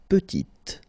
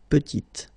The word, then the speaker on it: petite: Il est petit, elle est petite. Okay, exactly the same idea. Final T is not pronounced, and then when you add this E at the end, you get the sound T, T, petite.